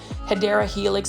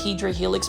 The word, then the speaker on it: Hedera helix: And for those that are new to the channel, I call or say mispronounce Hedera Helix as Hydra Helix because for the longest time I was mispronouncing it.